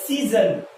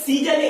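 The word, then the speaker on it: season: তাহলে সিজন, সিজন, সিজন কথার অর্থ কি হচ্ছে? ঋতু। ওকে, এখানে দেখে নাও, এখানে সিজনে এই যে এসটা রয়েছে, এটা এসটা কিন্তু দন্তাশ্রয়ের মতো হবে না উচ্চারণ।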